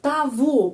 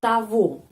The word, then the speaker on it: того: Я вижу того мужчину, того, G pengucapannya V, ya, kita sudah tahu.